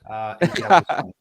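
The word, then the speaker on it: Tirabuzón: correspondent, the author of, I want to pronounce this correctly, it's Tiburazon, right? Uh, That's pretty close. Tirabuson. Tirabuson.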